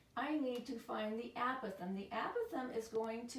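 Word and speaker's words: apothem: going to be the a Pithom okay it's a short a app with them so weird you need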